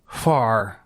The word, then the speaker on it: Hvar: But the word begins with an H. Okay. Hvar. You have to pronounce the H and the V very quickly.